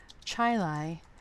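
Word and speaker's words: Chili: I am based in North Chilai New York which is spelled like Chile so I'm going to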